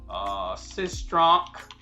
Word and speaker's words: Sistrunk: will put on here Sistrunk and just so if you can't pronounce my name it's sis as in sister trunk as in back of a car trunk sis trump simple right